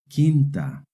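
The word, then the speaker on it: quinta: Remember in Spanish the Q is always followed by a U and together they make a hard K sound. Kinta. Now you try try reading this word.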